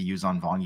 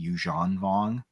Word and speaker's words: Yuzhan Vong: Also, I'm going to apologize right now because I'm going to say Yuzan Vong, even though I think it's actually pronounced Yuzhan Vong, but I'm not going to say that just because I grew up saying Yuzan Vong.